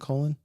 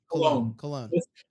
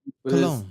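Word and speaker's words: Colón: Is it Colon? Is that how you say it or no? Cologne. I messed up the accent. Cologne.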